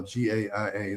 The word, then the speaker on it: Gaia: There's a series on Gaia, the Gaia channel, GAIA, that's how I pronounce it, Gaia, that's called Inner Evolution.